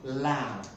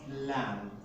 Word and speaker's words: lamb: with the pronunciation of a lamb so it's pronounced lamb it pronounced lamb this is what you're pronouncing now the next